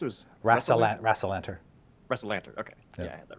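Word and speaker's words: Rassalantar: trip - where are we going how it's pronounced errs wrestle at wrestle enter wrestle Lanter okay yeah that right what would how would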